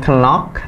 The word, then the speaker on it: knock: Bukan knock, tapi knock. I knock my brother's door. I knock my brother's door. Jadi dibacanya knock, bukan knock. K-nya nggak dibaca, T-nya di silent kan.